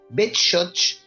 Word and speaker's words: Beshotsh: bech Sí bueno eh los judíos en idis llamaban a esta localidad betoch pero si pensamos en